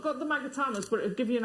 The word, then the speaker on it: magatama: here you've got your magatamas and they are your long magatamas it sounds wrong when i say magatama even though i know that's how you say it these are great